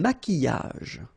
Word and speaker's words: maquillage: Un maquillage. Okay, so here, same rule, QU, but then U is not pronounced, so qui, and then y. Maquillage.